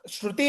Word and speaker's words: श्रुति: श्रुति इज the proper, श्रुति इज the correct Sanskrit pronunciation.